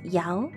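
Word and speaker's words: 幺: in phone numbers is you should pronounce Yao， ah。Yao. People don't usually say E because it can blend into other sounds.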